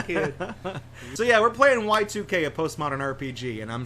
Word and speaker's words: YIIK: So I was like YIIK or Yeah, Yeek. it even looks like it. But then it's also like, oh, it's Y2K.